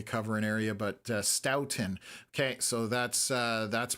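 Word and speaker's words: Stoughton: It is pronounced Stoutton, not Sten.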